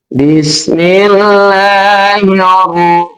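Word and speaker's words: بسم الله الرحمن الرحيم: Cara membacanya alif lamnya dihilangkan. Tuh. Maka cara membacanya Bismillahirrahmanirrahim. Langsung kepada roh. Bismillahirrahmanirrahim. Alif lamnya dihilangkan. Ya. Itu kan? Alif lamnya dihilangkan, langsung masuk kepada huruf samsiahnya, yaitu huruf roh.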